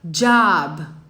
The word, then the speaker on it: job: Job. Job. Perceba que a palavra emprego ou trabalho em inglês não é um som de O. É tipo um A.